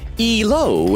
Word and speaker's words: Elo: Oak said it's pronounced elo. It's just rating points in chess.